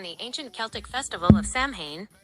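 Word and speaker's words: Samhain: Halloween originated from the ancient Celtic festival of Sam Hayne, pronounced sin, over 2,000 years ago in what is now Ireland, the UK, and Northern France.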